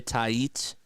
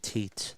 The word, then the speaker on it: Tate: Is that you say tait? Correct, Jack. All right, cool. Stop saying tit.